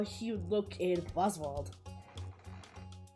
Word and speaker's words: Wozwald: Even the way I pronounce it, I pronounce it with a V instead of a W, even though it's still spelled the same exact way.